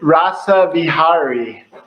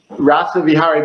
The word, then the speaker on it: Rasavihari: for having me now I believe your name is pronounced Dr rava Rossa V Harry is that it rasavi Harry in uh so this in rasa vihari rasa vihari but you can just